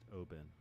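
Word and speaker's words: Oban: uh would be my favorite scotch and that's obon yeah that's that that one is probably my favorite it's good that's right that's mine was it the more northern or scotch it's actually pronounced open oh oh wait that sounds like it looks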